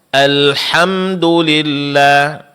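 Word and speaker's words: الحمد لله: huruf k ya contoh alhamdulillah di sebagian daerah ha di sini berubah menjadi huruf K.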